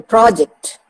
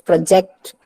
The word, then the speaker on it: project: upon the first syllable, project. When I use it as a verb, I stress the second part of the word, that is project.